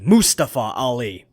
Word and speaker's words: Mustafa Ali: I finally know how to say this guy's name correctly. Mustafa Ali. Anyway, moving on.